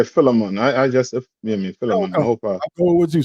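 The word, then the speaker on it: Philemon: the book of Phil how you pronounce other one I'm used to say fiman is it filon I said yeah filon I just what you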